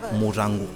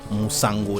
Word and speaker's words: Murango: In MOKPE we pronounce it Murango. Murango. You know, the normal man will say Musango. That's Douala, but MOKPE we say Murango.